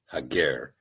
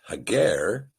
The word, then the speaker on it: Hagar: Now in this particular passage the sepher uses the word hagar as compared to the name Hagar which has been a pronunciation given to us by the maseretic nicodote. We believe the proper pronunciation is hager again rightly dividing the word and in the